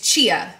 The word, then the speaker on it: chia: and a peach mango chai seeds or chia i'm just kidding i'm saying it wrong i always say this wrong and you guys correct me and set me straight so thank you for that it's chia seeds and i add this